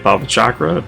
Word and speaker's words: Bhavacakra: At level 68, we get Bhavacakra, that is how you pronounce that.